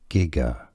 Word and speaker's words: Giger: British English pronunciation. HR gigger.